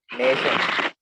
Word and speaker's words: nation: Here you'll find two syllables in this word, nation. Shan is the ultimate syllable. Nay is a penultimate syllable. Means from the last, shan is the first syllable, nay is the second syllable from the last. As per the rule, the word end in ION. That's why the penultimate nay should be stressed.